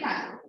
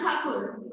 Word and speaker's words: Thakur: Like Rabindranath Tagore, the actual surname is Thakur. So even in Bengal, the Bengalis always refer to him as Thakur. So Britishers pronounced Thakur as Tagore, and so it became Tagore.